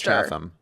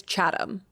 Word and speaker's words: Chatham: of Britain right so what's wrong with chatam it's chadam oh but is it